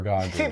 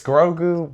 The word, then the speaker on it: Grogu: We were talking about how the Mandalorian, was it Grogu or Gagu? I think it's Grogu. You don't even know how to say it. It's Grogu Baby Yoda, because I haven't watched the show.